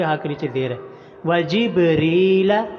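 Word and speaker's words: جبريل: کے نیچے زیر ہے۔ وجبریل، را کے نیچے زیر آ گیا ہے تو صرف را کو لمبا کریں گے۔ وجبریل ومیکال،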